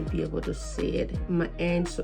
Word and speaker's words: Maange: This is from it's called Mange. I don't know if you're gonna be able to see it. Mange, so it's spelled MAANGE.